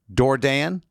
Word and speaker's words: Dourdan: I just want to make sure it's Doran. Yeah.